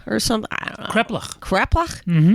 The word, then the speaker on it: kreplach: Kreplach?